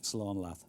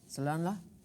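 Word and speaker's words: slán leat: Slán Lat. Salanla?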